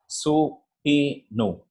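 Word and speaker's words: subpoena: It is pronounced as, I'll just go to the next slide so that you can understand what actually the pronunciation of this one. Supinu.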